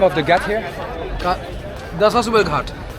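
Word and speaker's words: Dashashwamedh Ghat: Dashash Umer Ghat. How do you say? Dashash Umer Ghat. Dashash Umer Ghat.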